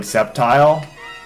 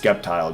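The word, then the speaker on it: Sceptile: I know it's supposed to be pronounced like Septile, but I refuse to say Septile. It's just Skeptile, dude.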